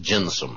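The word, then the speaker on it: gentium: g n t i u m but it's pronounced jensome at least according to John that's the just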